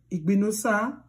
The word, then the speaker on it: Igbinosa: starts with letter I, always remember to convert the I to letter E. Just the way you pronounced English. English. The word English. Okay? So now, when you want to pronounce these words that start with I or names that start with letter I, convert it to E quickly.